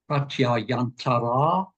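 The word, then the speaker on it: प्रत्ययान्तर: Say that with all of your effort to get these few syllables right, you actually then fell into the trap of over-lengthening the final a.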